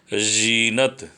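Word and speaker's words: ज़ीनत: फिर जीनत, जीनत में ज में लग गया तो क्या हो गया? जीनत। उच्चारण क्या होगा? जीनत।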